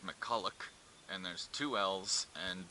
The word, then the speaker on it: McCulloch: Alrighty, so as it turns out, it's pronounced McCulloch, and there's two L's, and basically everything I got after the two C's was just completely wrong.